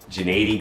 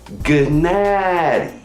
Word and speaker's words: Gennady: remember my very first episode when I repeatedly mispronounced golovkin's first name genady Golovkin gened might be limited what's in the